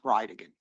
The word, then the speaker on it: Bridegan: And I'll represent to you that it's pronounced Bridegan.